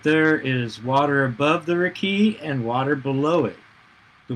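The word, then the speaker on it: רקיע: the firmament the hebrew word for this is pronounced your key biblical scholars understand their key to be a solid dome-like structure it separates the water into two parts so that there is water above the rickey and water below it the waters above are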